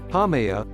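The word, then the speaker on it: Haumea: because of the strength of nearby Jupiter's gravity hamaya hamea pronounced is the only official dwarf planet not shaped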